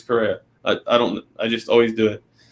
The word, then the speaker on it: Correa: I always say Carrera all the time, but it's Correa.